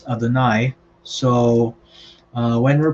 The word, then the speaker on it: Adonai: that the lord yahweh so remember we pronounce this adanai so uh when we're